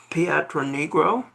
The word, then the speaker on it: Pietronigro: I I meant to have you uh make sure I could pronounce it before airtime, but Frank Patron Negro.